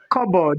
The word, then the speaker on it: cupboard: Here, cupboard. This is silent, right?